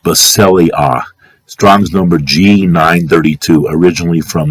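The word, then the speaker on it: βασιλεία: I as in indigo, A as in Adam, pronounced Basileia.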